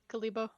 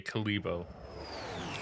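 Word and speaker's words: Kalebo: was on calabo three kalibo okay kalibo look it's spelled like kale all right I mean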